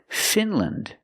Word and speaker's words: Finland: Again, we're pronouncing them with the short sound, lind. Iceland, Greenland, New Zealand. And there's more. Finland, Poland, Switzerland.